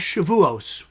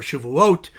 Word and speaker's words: Shavuot: It's the holiday known as Shavuos, or Shavuot, in the Sephardic pronunciation.